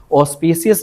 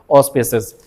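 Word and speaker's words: auspicious: ऑस्पिसियस ना बोलें। इनकरेक्ट होगी प्रोनाउंसिएशन। The correct is ऑस्पिसियस।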